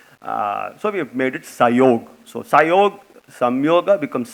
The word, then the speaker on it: Psiog: So we have made it Psiog. So Psiog, Sam Yoga becomes Psiog. I also understand in Sanskritam when you do Sandhi, Sam Yoga becomes Psiog when you pronounce, and Hindi also is Psiog, I'm told.